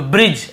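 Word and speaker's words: bridge: पढ़ देते हम लेकिन क्योंकि डी को नहीं पढ़ना केवल ब्री ज क्योंकि जी के साथ यदि ई हो आई हो या फिर वाई हो तो जी को ग नहीं पढ़ते हम ज पढ़ते हैं ज्यादातर ठीक है तो ब्रिज ऐसे पढ़ रहे हैं ब्रिज नहीं पढ़ रहे ड नहीं आ र यहां पर देखिए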